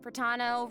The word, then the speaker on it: Pratano: Hey everyone, I'm Pratano, rhymes with Capitano, the voice of Child's Master, Skirk.